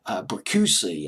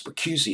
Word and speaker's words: Bricusse: The lyrics were written by Leslie Bricusse. I believe it's Bricusse is how you pronounce his name.